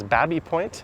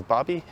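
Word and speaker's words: Baby Point: The neighborhood just over there is Bobby Point. I've heard locals pronounce it as Babby Point, some as Bobby.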